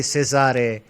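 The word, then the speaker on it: Cessair: So it's like Caesar, but you say Cesare.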